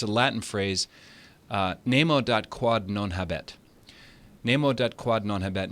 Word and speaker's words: nemo dat quod non habet: I looked it up so I wouldn't mispronounce it. It's a Latin phrase, nemo dat quod non habet.